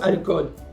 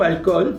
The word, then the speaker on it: alcool: faut pas oublier que le mot alcool même s'il s'écrit avec deux o n'a pas de H comme en anglais et il se prononce avec seulement un o un français ou